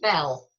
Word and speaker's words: Beale: Ninian Beale, pronounced Bell, may well have been one of the officers held at Tynemouth who was subsequently shipped on to Barbados.